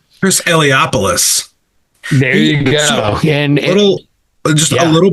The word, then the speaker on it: Eliopoulos: I can't pronounce the letterer's name. Chris Eliopoulos.